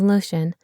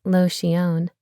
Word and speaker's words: Lotion: It was often mispronounced as Lotion, but the owner pronounced it as Lotion.